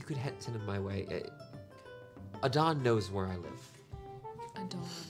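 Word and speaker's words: Adan: Adon knows where I live. Adon is the name in the front. Okay. All right. A-D-A-N. A-D-A-N. Thank you. Short for Dan, Adonis.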